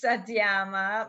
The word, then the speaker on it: Satyama: And can you please introduce yourself because when I was saying your name, I didn't pronounce it the right way. Yeah, my name is Satyama.